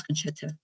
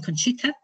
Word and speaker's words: Concetta: It changed when I started working, and Canadians couldn't pronounce Concetta. They were saying Conchita, Concita. Once somebody called me Concerto, and I'd say, well, Concerto doesn't sound too good.